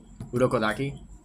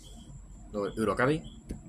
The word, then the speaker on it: Urokodaki: Urokodaki. Urokabi?